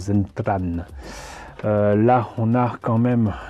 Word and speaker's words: Zentradi: Parce qu'il faut quand même rappeler qu'en fait, ça se prononce, en tout cas au Japon, il me semble que ça se prononce Zentran.